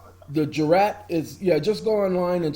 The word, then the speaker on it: jurat: Jurat. Okay, got it. Sounding like jury. Jurat.